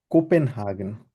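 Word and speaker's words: Kopenhagen: তারপর হচ্ছে আমরা এটাকে বলি হচ্ছে কোপেনহাগেন, যেহেতু পে আছে, কোপেনহাগেন।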